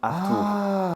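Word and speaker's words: acht Uhr: vous laisse ré citer veut dire 8h et se prononce à peu près comme Arthour Arthour se faire appeler Arthur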